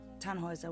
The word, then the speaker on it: Tannhauser: why what's your name Tannhauser we'd pronounce it tan Wazza with an armload German